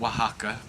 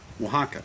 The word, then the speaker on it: Oaxaca: what's the name of the restaurant it's called Oaxaca Oaxaca yeah like the steak yes so it's like